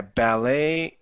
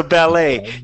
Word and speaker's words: ballet: So ballet, you could put stress on the last part or the first part, depending on how you say it.